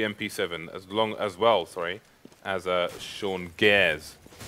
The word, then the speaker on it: Gares: That's going to be SEMPHIS with the MP7 as well, as Sean Gares. You need to pronounce the R like American, and not like a Brit. Ours do not exist in this country.